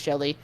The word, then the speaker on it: Zhongli: aka a lot of people call him like Shongli or something like that, but his name is Sholi. Anyways, the osmanthus wine. Crap. I thought it was Zhongli. It's his Chinese, how they pronounce it in like Chinese is Sholi, which is like obviously extremely not how we would pronounce it.